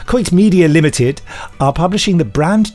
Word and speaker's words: Quoit Media: Coit Media, that's Quoit Media, but pronounced Coit. Coit Media Limited are publishing the brand new autobiography of Annette Andre, who played Jeannie in the series.